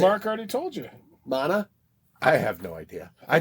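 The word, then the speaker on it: Maná: want to research on I think it's a Mana that's because the accent is on the second a and it's not a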